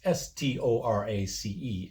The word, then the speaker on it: Storace: I have always said Mark Storic, or maybe it's Storace. It's Storace anyway.